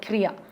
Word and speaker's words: Kria: It's called Kria. Okay. Because it rhymes with Priya.